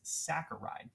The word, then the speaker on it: saccharide: And that's how you properly pronounce that is saccharide.